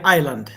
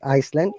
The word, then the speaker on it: island: Coney Island. S is silent here, okay? Island, not Iceland, Island.